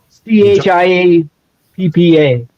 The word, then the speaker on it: Chiappa: Is it Shepa? Is that how you pronounce it? C H I A P P A. Chiappa.